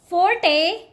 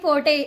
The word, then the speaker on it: forte: one very basic don't call it fasten T is silent here okay so call it fasten fasten this one very basic Forte don't call it Forte okay by the way this word is my